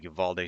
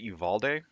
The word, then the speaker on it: Uvalde: So, continuing on with the last couple of streams, we are still talking about the Uvalde shooting and mass shootings in general, but I